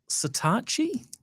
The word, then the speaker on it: Satechi: Now, Saatchi is what we settled on. Is a gadget brand, and I don't know why you pronounce it that way, but that's what Google tells me. Satechi. I would have thought Satechi, but anyway, Saatchi is what they tell us.